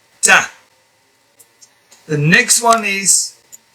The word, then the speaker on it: ت: So you pronounce it by attaching the front part of your tongue to the gums behind the top teeth. Ta.